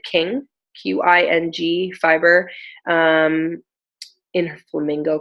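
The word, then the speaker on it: Qing: So this is, I think she pronounces it King.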